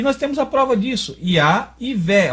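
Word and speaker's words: יהוה: Iá e Vé. Ó, o Vé aqui está mudo. Eu estou pronunciando só o V. Vé, né? Não estou falando verri, estou falando Vé.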